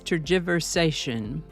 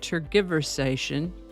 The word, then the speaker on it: tergiversation: Today's word is tergiversation. Sometimes pronounced tergiversation.